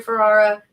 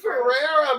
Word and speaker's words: Ferrara: Chris Hendrix and Andrew Ferrara. Am I saying that right? You are. Thank you. I'm just making sure. Everyone says Ferrara, but you're saying it right, and I love that.